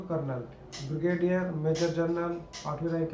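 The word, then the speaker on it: Colonel: major lieutenant कर्नल कर्नल कॉलोनल ऐसे तो लिखने में कॉलोनल है स्पेलिंग ध्यान रखना लेकिन बोला जाता है इसको कर्नल ब्रिगेडियर मेजर जनरल आठवी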